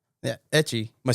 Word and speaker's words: 3CCH1: Etchie.